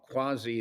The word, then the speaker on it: quasi: Well, the final song that Mac wrote, and the video for that song is called Quasi Love. Uh, I know the pronunciation is quasi, but Mac, I found